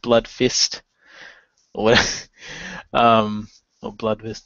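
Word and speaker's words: Bloodvist: that well you know they're Vikings of course would be blood blood vist instead of blood fist what um or blood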